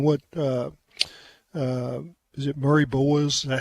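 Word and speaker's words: Murray-Boyles: what Pringle and what uh uh is it Murray boas is that how you say it Colin Murray boas yeah I'm just I'm just M for Leicester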